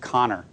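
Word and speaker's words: Kanner: not his name's leo connor name is spelled k-a-n-n-e-r but the internet assures me it's pronounced connor and he is the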